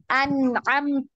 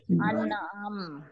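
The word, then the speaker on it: الأنعام: Jadi kalau disukunkan ini tinggal huruf hamasnya yang terdengar ya. An'am ya. An'am.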